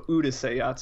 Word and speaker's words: Urusei Yatsura: I didn't completely pronounce that correct. So Urusei Yatsura.